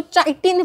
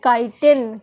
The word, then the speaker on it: chitin: अब देखो ये कुछ बच्चे क्या करते हैं, इसको CHITIN को चाइटिन पढ़ते हैं, बट प्रोनाउंसिएशन एक्चुअल में होती है काइटिन।